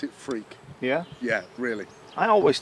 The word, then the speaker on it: Freke: But I am Freke. It's how it's pronounced in Yeah. England. It's Freke.